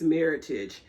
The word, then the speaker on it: Meritage: it i always say meritage so everyone says there's so many different ways but it's the word merlot and heritage makes meritage and there's a whole